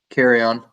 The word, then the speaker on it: Carreon: 157 this week we have Edie care Karen carrion I make sure I pronounce her name right carry on carry on awesome thank you thanks so much